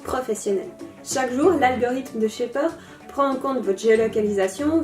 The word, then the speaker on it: Shapr: Chapre. Désolée, mais ça se prononce Shaper.